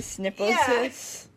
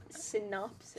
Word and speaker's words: synopsis: Is that how you say it? No. What? Snipposis. What? You're kidding me. From where? Snipposis. What? Is that not how you say it? From what? You're just. I can't. Synopsis. Synopsis. Synopsis?